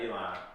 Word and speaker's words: Elon: It's Elon, right? Yep. Elon.